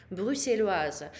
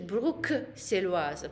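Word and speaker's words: Bruxelloise: Брюсселois, женщина будет Брюссельоаза. Можете услышать Брюксельоаза, по-разному произносят.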